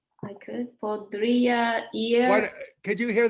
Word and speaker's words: podría: Podría ir, I could go.